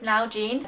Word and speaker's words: Nalgene: It's by a brand called Nalgene. That's how Doug told me it's pronounced.